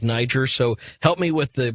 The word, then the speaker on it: Niger: Well, I'm having one of those moments where it was like the first day that everybody else on the planet started saying Niger instead of Niger.